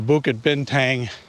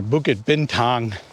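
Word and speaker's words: Bukit Bintang: the center of the buad bentang or bued bentang is the proper way to say it tourist area and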